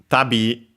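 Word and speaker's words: 度: Tabi, we start with the counter, accent on the last syllable.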